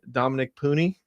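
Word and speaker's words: Dominick Puni: The guy who I've probably been the most excited about, who the Niners drafted, Dominic Pooney. Yes. And that's the correct pronunciation.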